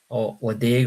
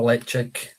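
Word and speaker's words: Ledaig: A grapefruit sour beer cask finish with Ladeg or Leipzig, depending on your way of pronouncing.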